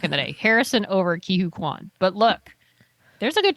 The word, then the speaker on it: Ke Huy Quan: Ke Huy Quan?